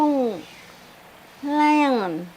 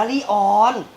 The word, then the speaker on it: lion: คิว ครับ สิงโต อ่ะ มัน ต้อง ไลออน ไลออน เสียง ตอ อุย ไล่ ต้อน อะไร น่ะ แม่ อ่าน ว่า ลีออน แม่ อยาก เถียง ุม